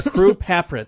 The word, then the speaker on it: Carew Papritz: We got a special guest, Carew Papritz, or Carew Papritz.